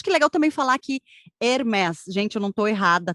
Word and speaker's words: Hermès: exato é nome próprio A grande maioria dos nomes próprios que terminam com s tem são pronunciados assim hermés que vem uma empresa